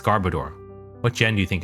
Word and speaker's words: Garbodor: a it's a gar I think it's Garbodor right I don't know if I'm saying it right Garbodor gar garoor yes it's Garbodor what gen do you